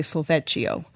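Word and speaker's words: solfège: If we were in Italy, we might say solfeggio. The tradition that I used through the Kodály methodology, I typically will use the term solfa. So solfege is, go back to go back to The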